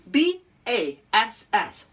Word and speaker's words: bass: and today's homograph is b-a-s-s short a sound bass the freshwater fish then